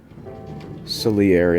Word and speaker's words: Salieri: Salieri, that's what this one is. Hang on, where is... Because their name's like Selena, but it rhymes with airy, get it?